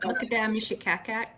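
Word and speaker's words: Makataimeshekiakiak: Makate Mishikaikai? Yeah, the Makadam Mishikakak is how you speak his name in our language.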